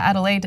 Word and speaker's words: Adelaide: Tamara says, today will be 42 degrees here in, I don't want to mispronounce the city, Adelaide? Yeah, Adelaide, Australia.